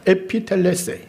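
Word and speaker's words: ἐπιτελέσει: 원어적으로 이 문장을 발음하면은 에피텔레세이라고 합니다. 에피텔레세이.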